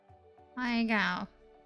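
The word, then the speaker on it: Pai Gow: Paigao. Oh, yeah, it's more of a U sound, okay.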